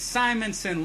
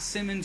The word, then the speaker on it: Simonson: It's Simonson, long I. There's not two M's. It's not Simmons or Simonson. Simonson. It's not hard.